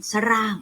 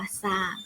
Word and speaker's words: สร้าง: เอา ไป สร้าง ค่ะ คำ ว่า สร้าง ศ. รอ อะ งอ 3 ไม้ ทู ออก เสียง แค่ สอ เสือ ตัว เดียว ไม่ ต้อง ไป กระดก ลิ้น ซะ ร่าง อัน นี้ ถือ ว่า ผิด นะ คะ ผิด เลย นะ ฮะ ทำ ให้ ถูก ต้อง เนี่ย ต้อง อ่าน ว่า สร้าง นะ คะ ต่อ ไป เศร้า